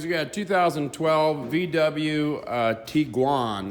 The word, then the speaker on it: Tiguan: got a 2012 VW tiguan that's how it's pronounced in Germany that actually means tiger